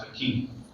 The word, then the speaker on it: Facchine: So growing up, I was called Facchine, and then at some point, I wanted to reclaim the Italian pronunciation, which is standard is Facchine, but that's way too